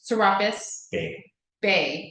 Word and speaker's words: Serapis Bey: Even Serapis Bey, is that the right pronunciation? Serapis Bey.